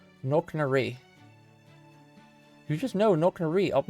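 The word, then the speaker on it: Knocknarea: Coco said how to pronounce that earlier. How did he say? Where is it? It's Knocknaree. Knocknaree. Knocknaree.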